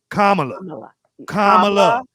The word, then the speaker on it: Kamala: So I call him Donald Trump because y'all keep getting her name wrong. It's what is it? Kamala.